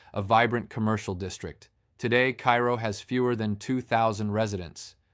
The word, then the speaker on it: Cairo: Cairo, Illinois, pronounced Cairo by locals, sits at the very southern tip of Illinois, where the Ohio River meets the Mississippi.